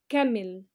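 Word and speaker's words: camel: انيمالز الحيوانات انيمالز انيمالز كمل كمل كمل الجمل السي اي بتنطق بتنطق بتنطق لما يجي وراها حرف الايه يبقى كمل كمل كمل اليفنت البي البي البي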